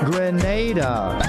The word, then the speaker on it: Grenada: So today, like we Germans say, we are in Grenada. But I heard in English it's called Grenada. Say it right. Grenada. Say it right. Grenada. That's right.